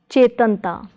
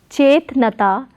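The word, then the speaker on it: ਚੇਤਨਤਾ: So the word will be pronounced as chache nu lama che, tatta nanna tan, che plus tan is chetan, tatte nu kanna ta, chetanta. So it is not chetnata but chetanta, chetanta.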